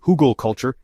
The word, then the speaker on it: Hugelkultur: At its core, Huggal culture, pronounced Hoogal culture, is a raised bed technique that mimics the natural processes of forest floors.